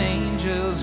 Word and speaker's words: angel: Le A va se prononcer A lorsqu'il est suivi du son J. Comme par exemple dans les mots suivants, change, range, arrange, strange ou encore angel. I'm loving angels instead.